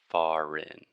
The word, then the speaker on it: foreign: or sovereign and sovereignty we just do not pay attention to the crazy writing and just think this is sovereign earn far in far in okay and also alex